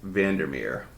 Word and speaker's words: Vandermeer: that way too quick v-a-n like a van der as in dur and Mir m-e-e-r m-e-e-r when you said Jeff